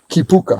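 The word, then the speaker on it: kīpuka: place as you say, help me with the pronunciation again, Kipuka.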